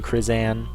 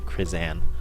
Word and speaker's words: Krizan: to us from Ethan krizan which is how he said to pronounce at this time I got it crit as in critical zen-like van krizan I got it and